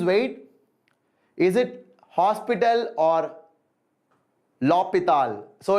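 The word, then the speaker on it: L'Hôpital: the lh rule or l hospital rule hospital you like tell hospital hosp hospital is very common so you can use that but the actual pronunciation is lopital okay so h is silent l'hopital rule is the right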